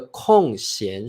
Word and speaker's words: 空闲: 好，找了个空闲时间，不是空闲时间啊。好，注意这是个多音字哦，空闲就